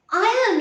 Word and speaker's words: iron: premiere then you must iron your shirt not iron iron so you iron the shirt i am the uniform the r is silent but where is your